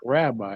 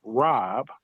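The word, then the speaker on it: رب: And it and it it is not rabbi. It's is it's it's Rob, right? Which is Arabic. And it alludes to more of a word for sustainer, right? Sustainer. I can say the sustainer or maybe translated as the the nurturer the nurture right rob in the Arabic and it's different right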